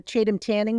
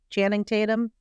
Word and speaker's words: Channing Tatum: We It's so bad that I I bought my nieces when that new uh Chadam Tanning movie come out. I always say his name wrong. Channing Tatum. That's it.